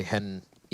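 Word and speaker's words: HEN1: It's kind of interesting how for Henny, you say Hen E, you pronounce the 1, but for Lucas, you just ignore the 1.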